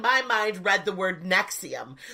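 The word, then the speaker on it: NXIVM: cult is this one the nexium it's called the noxious cold x IAM but it's spelt NX IVM so I guess it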